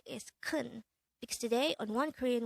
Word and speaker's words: 큰: hangout word number 241 this is pronounced as one syllable word pronounce it with me the korean word kun is an adjective which